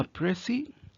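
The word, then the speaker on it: précis: अगर हम देखें नीचे डेफिनेशन लिखी है कि अ प्रसी इट is pronounce S प्रेसी इज a highly concise accurate summary of a long text और स्पीच।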